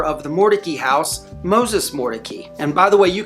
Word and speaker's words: Mordecai: they pronounce this area an out-of-towner is gonna pronounce it like you would find in the Bible Mordecai however if you